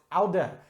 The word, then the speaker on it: oude: alternate spelling which is oh you de pronounced Alda just like the word hears it has an e on the end E's are pronounced in Dutch just as they are in German on the inn and they make that sound so it's alda here's a boon Black